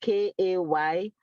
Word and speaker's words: Kelechi: So if the name is Kelechi, they will now put how it's pronounced, Kaylaychi.